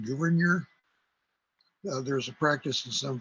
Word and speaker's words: Gouverneur: As far as I know, his name is pronounced Gouverneur.